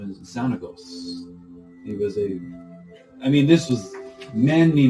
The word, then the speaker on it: Xanagos: Spell it. Yep. X-A... Oh, X! Jesus. X. A-N-A-G-O-S.